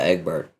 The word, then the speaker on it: Egbert: Essence to Egbert. Egbert? What? No, like the French pronunciation.